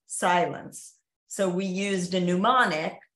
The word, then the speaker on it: Cylance: brand was Silence, but it was spelled Cylance, but it's pronounced Silence.